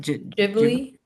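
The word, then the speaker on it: Ghibli: Jim Jib. What? How you say it? Jiblly.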